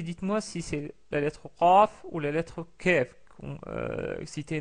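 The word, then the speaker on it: ق: Avec la lettre Qaf, on recule un petit peu le fond de la langue qui touche au pavé supérieur vers l'arrière pour la distinguer du son Kef.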